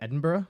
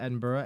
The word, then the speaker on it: Edinburgh: on the outskirts of Edinburgh Scotland and Edinburgh and bura right that's how they say it that's how they say that I think they say the same burg over there Edinburgh no Edinburgh right